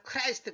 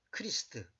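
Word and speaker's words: Χριστός: 크리스탈한 말은 히브리어로는 메시아 헬라어르는 크리스트 모두 영에서 크라이스트 그랬잖아요 그건 잘못된 발음이에요 크리스트 그런가 무슨 말이냐면 하나님이이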